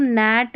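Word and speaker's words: gnat: चलिए जी एन जब भी दिखाई देना, ये जैसे देखिए यहाँ जी एन का कॉम्बिनेशन ये शुरू में, तो यहाँ पर जी साइलेंट है, जी को नहीं पढ़ेंगे। नोम, नैट, और यहाँ नो, तो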